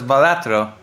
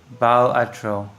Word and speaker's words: Balatro: Uh, Because the word is based on Latin for a gesture, but the developer said whatever pronunciation makes you happy.